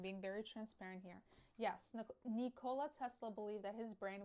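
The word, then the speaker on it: Nikola: How to how to pronounce Nola? Nicola. Nicola.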